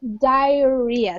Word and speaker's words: diarrhea: 2 million people are dying every year from diarrhea so diet the pronunciation is diarrhea and diarrhea is when you're